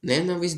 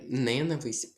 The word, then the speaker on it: ненависть: Далі не ненависть, а ненависть. Наголос падає на другий склад.